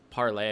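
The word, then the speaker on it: Parler: move over to this parlay it's it's spelled parlor with the e but it's parlay I guess is that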